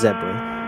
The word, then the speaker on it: XEPA: Around the outside of is that the zebra racing? It is. Number 325? It's pronounced zebra, but yeah. Wait, what? With that spelling, maybe.